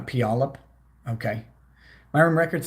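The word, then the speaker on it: Puyallup: you have fun also it's pronounced squim and pialp uh pialap okay my room record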